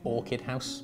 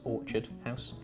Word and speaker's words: Orchard House: the year you'll hear i'm going to pronounce orchard quite intensely because for weeks i've been calling it orchid house but it's orchard house uh this is another